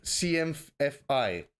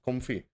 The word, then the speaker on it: CMFI: what's happening sure so cm fi how how would you pronounce it comfy uh you could yeah we just say cmfi internally um but we're actually going